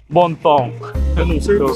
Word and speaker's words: Bon Temps: yung pum boat yan Bon temps yung spelling ng Resort nila dito yung spelling ng name ng Resort nila Pero yyung pagpronounce daw daw is bontong French word French word daw siya meaning good times